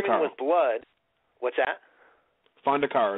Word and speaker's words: Fondacaro: pronounced that right, and Fondacaro. Women with Blood, what's that? Fondacaro is how you pronounce it. Okay, well, we got it right then. Yeah, you got it.